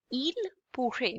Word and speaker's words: il pourrait: It would become il pourrait, because ending ent we do not pronounce it.